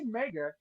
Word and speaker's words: Mega Bloks: great product mega bloks they they say mega and that's rhymes with maggots so that's mostly my